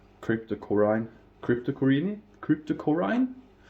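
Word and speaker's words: Cryptocoryne: and uh well it's crypto Corine Cryptor crypto Corine Krypto Corina as we say in Norway the Norwegian pronunciations of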